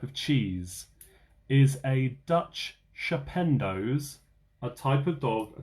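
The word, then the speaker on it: schapendoes: Is a Dutch shapendos a type of dog, a type of pig, or a type of cheese?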